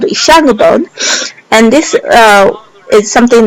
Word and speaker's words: Ishango: today we call it Ishangu bone. So when I speak that word, I have to visualize the alphabets in my brain, which is ISHANGO, so that I can pronounce it correctly, or so that I can memorize it effectively.